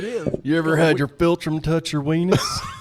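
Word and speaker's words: philtrum: It's called the filtrum. That's like Dr. Spelled like Dr. Phil.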